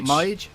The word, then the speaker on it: Meij: Harold Meij, if I'm pronouncing that correctly. Yeah. Meij. Harold Meij. Meij. Meij. Yeah, Harold Meij. Mage?